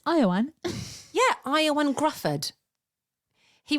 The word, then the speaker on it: Ioan: think the Marvel movies isn't his name spelled like that and it's Iowan yeah IO and grufford